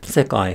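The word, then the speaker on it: 世界: So if we go back to the example word, sekai, high, low, low, and then the particle also attaches low. So sekai wa, or sekai ga, high, low, low.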